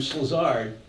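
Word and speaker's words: Szilard: This fellow here named Slazard, a friend of Einstein's and a well-known nuclear physicist, interesting name, S-Z-I-L-A-R-D, Norwegian, not Norwegian, I beg your pardon, Hungarian.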